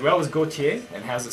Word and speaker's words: Gotye: So it's pronounced as in his surname, but, you know, I just kind of came up with my own spelling.